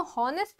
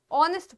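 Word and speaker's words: honest: अब आपको पता है ऑनेस्ट में एच साइलेंट होता है। तो वोवेल साउंड में हमेशा एन लगता है। हम लोग इसको हॉनेस्ट नहीं ऑनेस्ट पढ़ते हैं।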